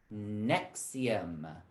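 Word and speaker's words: NXIVM: acid reflux drug nexium nx all caps and xivm pronounced nexium that's the cult i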